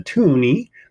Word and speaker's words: toonie: It's just the fact that it rhymes with loony, and there's two of them, $2 meaning toonie.